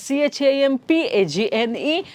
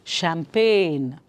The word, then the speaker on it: champagne: change the spelling fine the phonic sound is different from the spelling that is here so